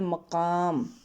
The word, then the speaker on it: مقام: پہلا لفظ ہے مقام۔ میم زبر ماں، کاف زبر کا، الف اور میم دونوں ساکن ہیں، مقام۔ مسافت، میم زبر ماں،